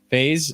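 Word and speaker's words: Faes: It took until like the very final minutes of the game to get Faye or I don't know how to say his name. Faye sent off. Whatever. FaZe?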